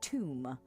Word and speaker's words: Thumb: Oh, pronounced tomb.